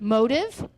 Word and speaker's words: motif: You can say it one of 2 ways. You can spell it one of 2 ways. First of all, you can create a motif. Some people pronounce it motive. Motif, I'm just sorry, old school. I believe that's German to say motif. It is some European language.